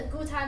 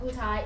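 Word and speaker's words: Gutai: so how do you think for instance the Guai Market you guys know Guai how Guai it's spelled g u t a i it's a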